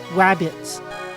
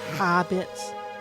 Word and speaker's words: HaBits: This says HaBits or WaBits, depending on how you pronounce it. But it's meant to be HaBits.